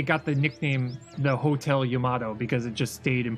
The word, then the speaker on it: Yamato: That's when you run into the Yamato issue. Whatever that, however you pronounce that. The giant Japanese battleship. Yamato, that's right.